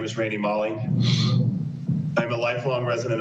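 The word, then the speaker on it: Maale: of those people are there we have randy mall m-a-a-l-e i don't know if i'm pronouncing that correctly good afternoon please state your name for the record good afternoon my name is randy molly i am a lifelong resident of palm beach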